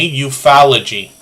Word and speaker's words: ufology: so oh ufology okay I'm gonna try to remember to pronounce that properly euphalogy is what I should be uh saying and makeup mom and